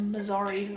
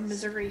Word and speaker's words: Missouri: of fiber made by the Missi or Missouri feed company depending on who you talk to about pronunciation he's so gentle well he's